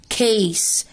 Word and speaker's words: case: بص ادي حرف C وادي حرف C، السي هنا جه مع حد من صحابه اللي هو اي اي واي، ادي الاي، انما السي هنا ما جاش مع حد من صحابها، جت حرف الاي، فهنا هتتنطق pencil pencil ص ص، انما هنا case case وcase، السي اتنطقت ك والاي هنا جاي long عشان عندي magic e، فتبقى pencil case pencil